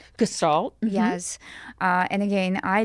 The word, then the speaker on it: Gestalt: reading about you too, that I will probably pronounce it wrong, but you will correct me. Gestalt. Gestalt.